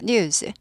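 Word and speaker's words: news: 영어식으로 하면 어 그 원어민들은 뉴스 하지 않고 뉴즈 뉴즈 즈 발람이납니다 뉴즈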